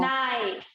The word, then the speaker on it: knife: के साइलेंट कैसे रहेगा, देखो कोई वर्ड बताइए। हाँ, नो, नाइफ ma'am, no. नाइफ, KNIFE, नाइफ, KNE double E है ना, KN EE।